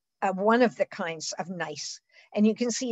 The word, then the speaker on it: gneiss: but a category called nice the g is silent and it's very highly